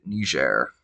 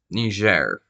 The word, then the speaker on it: Niger: That last one last two are Democratic Republic of the Congo and Niger. Yes, that's how you actually pronounce that. Now, you think it is it's Niger.